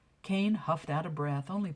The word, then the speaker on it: Kayn: always did you know it's pronounced like cane and not like a hot pepper pretty soon you're going to have the staff really calling me cayenne cane huffed out of breath